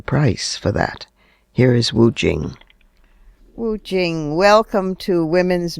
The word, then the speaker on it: Wu Qing: Wu Jing. In Western transliteration, it's spelled W U Q I N G.